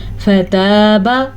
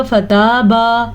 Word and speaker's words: فتاب: فتاب علیکم، فتاب، تا زبر الف تا، اسے لمبا کرنا ہے لیکن با زبر با، اس کو لمبا نہیں کرنا. اگر کوئی اس کو پڑھے گا فتابا تو معنی غلط ہو جائے گا.